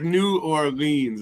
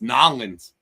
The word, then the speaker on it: New Orleans: He's like New Orleans. I don't think it's pronounced like that. It's Nolans. Nolans.